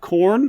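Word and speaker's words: Khorne: deities here you have corn the god of slaughter you have nervous the god of pesce nope it's spelled k h o r n it still sounds like corn like maize it has yeah it's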